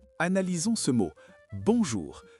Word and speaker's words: bonjour: Bonjour. Il y a un son nasal très important sur le on. Ce n'est pas bonjour avec un N fort à la fin, c'est une vibration dans le nez.